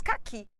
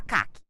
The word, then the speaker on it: caqui: exemplo a palavra cqui automaticamente nós falamos caqui ninguém fala caak caqui se alguém falar caak incorreto inadequado kak a sílaba mais forte ficou Clara que é o i